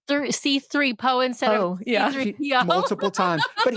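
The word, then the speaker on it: C-3PO: Anyway, I think like a 10-year-old kid on like the fourth or fifth time raised his hand and said, "It's C3PO."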